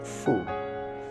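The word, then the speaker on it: 福: In the center of the lower circle is the character for good fortune, pronounced Fu, which has the same pronunciation as the character for bat.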